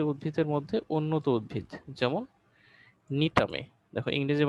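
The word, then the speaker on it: Gnetum: নগ্নবীজী উদ্ভিদের মধ্যে উন্নত উদ্ভিদ যেমন নিটামে, দেখো ইংরেজি বানানটা দেখো, এখানে কিন্তু জিটা হচ্ছে উচ্চ থাকে, জি এর উচ্চারণটা হয় না।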